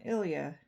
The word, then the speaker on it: ILIA: Uh the next thing I got was from Ilia.